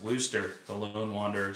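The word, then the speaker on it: Worcester: autism channel so we do try to It's pronounced woster the lone Wanderer said can we just call it Worster sauce is that I don't have anymore I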